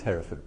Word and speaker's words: Hereford: And it is Hereford, by the way, not Hereford. There's an E in the middle.